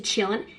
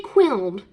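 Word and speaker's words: Qilin: like, they were like, it's a Chillin. I did say Quiln, but in my defense, I read the Menagerie series, and I didn't hear it pronounced, so yes, I did not know it was pronounced a Chillin.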